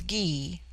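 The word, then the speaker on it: Gy: word for woman is Gee pronounced hard as in guy it forms itself into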